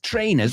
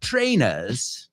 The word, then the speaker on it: trainers: Trainers. Let's pronounce it in our best British accent. Trainers. The R they don't pronounce.